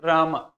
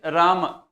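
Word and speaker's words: राम: Ram Prabhu sriram right but it's not Ram it is Rama foreign so that's why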